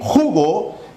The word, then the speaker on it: jugo: Al decir jugo, tenemos aquí a nuestro acento en ju. Y si digo jugó, tenemos nuestro acento en go.